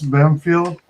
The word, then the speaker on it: Bampfylde: Uh, now is pronounced Bamfield.